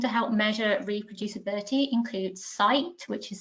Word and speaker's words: scite: Other initiatives seeking to help measure reproducibility include CITE, which is spelled SCITE_, interestingly, which uses deep learning to